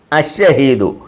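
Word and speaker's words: الشهيد: ഷഹീദുൻ ഷഹീദുൻ ഷഹീദുൻ കണ്ടോ ഈ ഇത് അഷഹീദുന അശ അശ അഷഹീദു ഇപ്പം ഷഹീദുൻ ഷഹീദുൻ അഷഹീദു ഈ അലിഫിന് ശേഷം ലാമ് വന്നിട്ടുണ്ട്. ലാമിന് ഉച്ചാരണമില്ല. ലാമിനെ ലാലീലു എന്ന് വായിക്കത്തില്ല.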